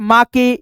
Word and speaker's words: MAKE: जैसे यहाँ पे MAKE है तो यहाँ पे आप माँ के या मे के इस प्रकार से नहीं पढ़ेंगे, केवल दोस्तों मेक पढ़ेंगे, यानी ई को